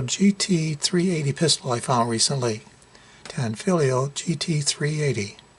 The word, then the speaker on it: Tanfoglio: Tanfoglio GT380. The G in Tanfoglio, by the way, is silent.